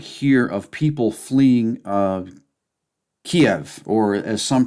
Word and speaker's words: Kyiv: This is an image right here of people fleeing Kiev, or as some pronounce it, Kyiv.